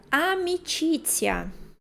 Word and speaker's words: amicizia: Pensem sempre nesse zzz, zzz, para pronunciar o Z.